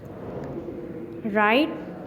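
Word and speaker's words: write: फर्दा दी ई है राइट लिखना रट आर डब्लू आर ओ टी ई W silent है रट रिटर्न नेक्स्ट फिर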